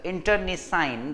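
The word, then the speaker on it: internecine: was followed by ah how do we pronounce this internet science intern is sign that is how you pronounce this word so it was followed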